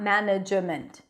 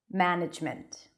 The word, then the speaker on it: management: So actually we're saying ma, one syllable, nudge, another, ment. It's not management, management.